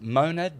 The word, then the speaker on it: monad: Because monad becomes a dyad. Monad Two. is the name? Yep. Mon. the How do you monad.